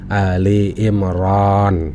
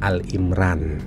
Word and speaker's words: Ali Imran: tajwid agar mudah membacanya, yang jika dibaca menjadi Ali Imran, bukan Al-Imran.